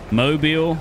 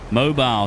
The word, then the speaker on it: Mobile: Farm Boy says, we pronounce it mobile with one L. Mobile. So mobile is not mobile, it's mobile. Mobile, Alabama.